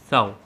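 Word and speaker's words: ciao: वो है हमारा इटालियन साओ, जिसको लोग सीआईओ भी बोलते हैं, बट सीआईओ करेक्ट प्रोनाउंसिएशन नहीं है, तो साओ इज़ a correct pronunciation.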